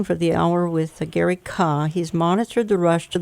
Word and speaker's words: Kah: I'm talking for the hour with Gary Kah.